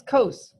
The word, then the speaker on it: cos: And it's cos, not cos, or anything else.